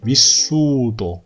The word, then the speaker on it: vissuto: 자, vissuto 또 아닙니다. T 2개 아니고요. vissu, S 2개죠. vissuto con te.